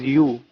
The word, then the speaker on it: YU: Micromax sub-brand YU, which is also sometimes pronounced as U, started off pretty well, but it soon witnessed a downfall.